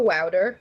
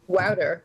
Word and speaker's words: Wouter: I actually ran into Wouter. He goes by Wouter, like powder. That's how you pronounce his name.